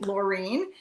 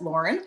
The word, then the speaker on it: Laureen: Of course, we're working to increase that, and happened to meet Laureen, who, of course, like everyone, mispronounced as Lauren, but she got me corrected, so I keep it straight, and said, "Hey, where do you work?"